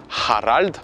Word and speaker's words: Harald: le r par contre il faut le rouler donc c'est R exactement haralt celle-ci c'est Hagal c'est pour les H qui sont prononcés donc je reprends le prénom de mon père Harald je prononce le H ha ça c'est le AR